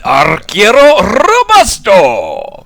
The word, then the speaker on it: Arquero Robusto: Can you roll your R's? I'm not much. I can try. Robusto. Yes, Arquero Robusto.